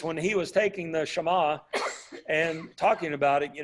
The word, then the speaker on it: Shema: them and so now the Shaima or Shema as a good Jew would say is the Great Commandment